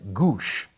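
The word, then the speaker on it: Gwosdz: for the padres now it was pronounced doug goosh and his last name was spelled g-w-o-s-d-z they called him eye chart because his last name had every possible consonant thrown in there pronounced goose but it's gwas if you look at polish down right so that's my all-time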